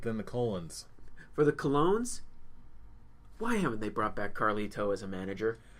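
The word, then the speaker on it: Colón: I know it's pronounced Colognes. It's funny to say colon.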